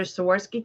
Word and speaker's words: Swarovski: Those are Swarovski crystals, and I said it right.